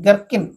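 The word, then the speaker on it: gherkin: পড়া জীবনে পড়া জীবনে গারকিনটা সাইলেন্ট গারকিন ওকে আর অর্থাৎ ছোট্ট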